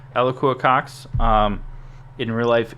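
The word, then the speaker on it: Alaqua: uh which is awesome a lakua i think it's the actual way to pronounce it eloqua cox um in real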